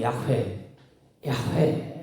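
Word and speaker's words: 야훼: 그나마 뭐 어쩌다가 대제장이 발음을 했던지 모르지만 우리가 발음하는 것이 여호와 이렇게 번역해 놨는데 더 가까운 발음은 야회 야회 이렇게 부르는 것이 가깝다고 이제 우리가 생각하는 거지 실제는 알지도 못해요.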